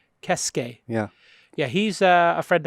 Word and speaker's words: Keisuke: How do you pronounce his first name? My name No, Honda's first name. Keisuke. Kesuke.